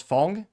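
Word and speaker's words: Ghosn: would be Ship by Carlos Fong or phone is how you're supposed to pronounce it where he did successfully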